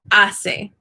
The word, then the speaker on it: hace: But it's a soft C whenever it's followed by an E or an I, just like in English. So it makes the S sound. So hace.